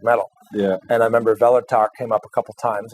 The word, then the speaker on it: Kvelertak: And it's pronounced Kvelertak. You don't pronounce the K, I guess.